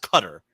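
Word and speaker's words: Qatar: guitar what did I say correctly it is pronounced cutter oh yeah qar it's qar cool this is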